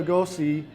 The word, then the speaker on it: Lugos: And it says, from where did Bela Lugosi derive his professional surname? And it was actually, how do you pronounce that?